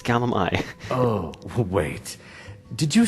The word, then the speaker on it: Gulum-Ei: drop the act now gullum i or should i say gadget lie he's like no no you're pronouncing it wrong it's gallimi oh wait did you